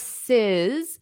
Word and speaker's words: Harris's: comma Harris would Harris harrises so you need to add that extra syllable harrises to show this possessive Harris's price gouging